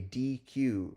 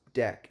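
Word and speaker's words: deque: think this is not this is not a a DQ right this this is this is a um a deck right it's pronounced deck it's a double-ended Q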